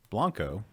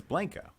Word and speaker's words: Blanco: No, I think proper pronunciation in the Spanish language is Blanco, the Blanco River, but the town is Blanco. No. I just pulled it up on Wikipedia, and the pronunciation is B-L-A-N-G, Blang, K-O-H, Co.